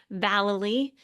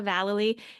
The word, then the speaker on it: Vallely: It's Vallely, rhymes with Galilee, Vallely, and it's spelled